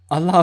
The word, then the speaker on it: Allah: Every time I felt far from feeling, Allah filled me with life. When my Just feel pronounce it Allah. Allah. Allah, okay, Don't. Yeah. Don't. It's the L's that are to be like emphasized.